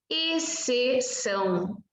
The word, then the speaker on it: exceção: Quando você tem X com C, a letra X não tem nenhum som. Você vai pronunciar a letra C. Normalmente está acompanhada de E e I. Na verdade, sempre está acompanhada de E e I. Então, você vai usar somente S.